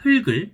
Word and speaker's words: 흙을: 또 애들이 많이 틀리는, 사실 이거는 다 틀리는 거긴 한데, 흑이나 닭 같은 경우에는 흑을 아니면 닭이라고 읽으면 안 되고 흙을 달기라고 발음을 해야 됩니다.